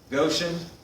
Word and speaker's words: Goshen: Starts with a G, rhymes with ocean. Goshen.